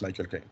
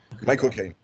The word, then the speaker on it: Michael Caine: Parce que si en anglais tu dis Michael tu dis Michael Caine, et c'est comme ça qu'on prononce Michael Caine. Michael Caine.